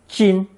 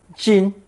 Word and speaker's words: 巾: Or more specifically, a towel or scarf, pronounced first tone, 巾, 巾.